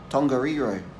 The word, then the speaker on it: Tongariro: all that is don't let eat or not Tongariro okay so the hardest part in this place